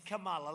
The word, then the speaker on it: Kamala: It's Kamala, like a comma.